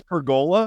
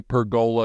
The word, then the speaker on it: pergola: Sydney says pergola? No, that's a joke. But I say pergola because it's like, why are you pressing so hard on that G?